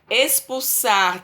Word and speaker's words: expulsar: temos é fixar né expulsar tem som de s mas não é com s é com x Tá ok e em